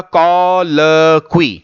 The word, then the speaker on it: colloquy: इसको जैसा मैं बोल रहा हूं वैसे ही प्रोनाउंस कीजिएगा, कॉलक्वी।